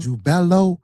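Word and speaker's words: Jubelo: So, these three ruffians, you got the name wrong. It's jubella, jubella, jubello. Jubello, Jubelum, not Jubel.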